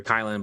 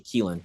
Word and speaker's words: Kylin: uh of you know of the new character kylin but uh you know it's actually kelen you know insurance policy we got make sure we got to make sure we get that pronunciation shout out to Roxy